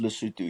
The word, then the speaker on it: Lesotho: It's pronounced Lesotho, yes. Lesotho.